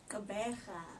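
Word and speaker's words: Gqeberha: Kabeja.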